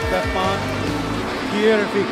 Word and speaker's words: Stefan Kiervik: I was corrected to be Stefan Kiervik. Kiervik.